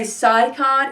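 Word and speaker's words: Physcon: responded by taking and i want to say saikon it's spelled p-h-y-s-c-o-n all right by taking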